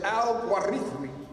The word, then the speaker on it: al-Khwarizmi: The word al-Khwarizmi, transliterated al-Gorithmi, or al-Gwarizin, pronounced in the classical Arabic as al-Gwarithmi, where the Latin transliteration of his name, algorithm, is derived, hence algorithm.